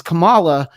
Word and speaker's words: Kamala: the few people that need to have multiple pronunciations for names spelled like that, because our vice 100%. president is Kamala. She's Kamala, and I almost said the wrong one.